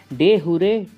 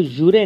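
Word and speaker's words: jure: 16th ऑफ अगस्त 2021 को पुडुचेरी ने डे हुरे transfer day celebrate किया। इसको जुरे नहीं डुहरे प्रोनाउंस किया जाता है।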